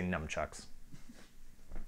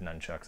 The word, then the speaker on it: nunchucks: nunchucks and throwing stars I meant to say numchucks accidentally said nunchucks I accidentally said it right yeah I also assume